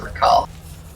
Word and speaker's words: Rakarth: You pronounce it Rakarth. Okay. Oh, there is an R in his name. Wow, I clearly. Okay, I was trying to go with calling him Rakarth rather than Rakath, but there is an